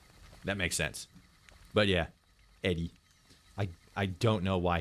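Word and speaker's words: ED-E: I always pronounced it ed. That makes sense. But yeah, Eddie, I I don't know why his why his diodes there are red.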